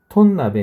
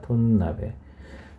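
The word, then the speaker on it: 豚鍋: 친절 하게 도 " 톤 나베 " 라고 쓰여 있습니다 . 톤 나베 .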